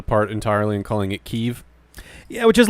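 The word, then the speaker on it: Kyiv: in Russia essentially like Kiev in Russian yeah there's two there's two it's technically a diphthong between two of the same vowel sound apparently Kiev is the Russian pronunciation but Kiev yeah Kiev there's like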